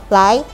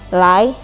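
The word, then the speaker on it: 来: Nah, nada kedua kita mulai dari pelan ke tinggi atau lai, lai artinya datang.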